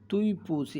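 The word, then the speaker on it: 对不起: আই এম সরির জন্য তুই পুচি এটা কিন্তু ডি না উচ্চারণ হবে ত এর মত আর এই উচ্চারণটা হবে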